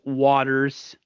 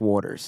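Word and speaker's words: Watters: he's why his uh his last name is spelled with two T's but pronounced Waters and not Waters Waters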